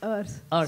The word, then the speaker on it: Urs: No, that's not Urs. That's Urs. So it's spelled as U, but it's you know, and.